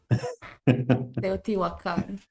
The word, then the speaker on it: Teotihuacan: How is the pronunciation, Vero? Teotihuacan.